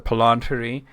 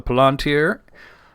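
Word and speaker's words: palantír: And of course the palanter. Uh there should be an accent on the first eye there. We just talked about the palanteer, uh, which is singular.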